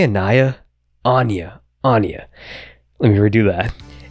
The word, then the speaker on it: Anya: Codename Anya. Thought it was supposed to be pronounced Anaya when I first read it, so if I slip up when talking, ignore that.